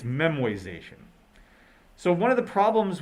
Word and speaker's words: memoization: did pronounce it correctly it is not memorization it's memoization so one of the